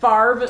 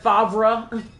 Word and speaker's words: Favre: Like, please explain to me how you suddenly pronounce the R before the V when it's spelled V then R.